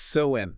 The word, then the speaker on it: Samhain: That's got to be pronounced like some mystical chant or something. How do you really say it? It's Samhain. Samhain.